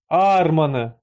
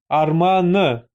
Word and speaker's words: арманы: Ещё раз, друзья, напоминаем вам, пока пишет Фараби, что в казахском языке ударение почти всегда падает на последний слог в 95 % случаев. То есть не «onyn arman», а конкретно «onyn armany» или « senin armanyn». Вы понимаете, друзья?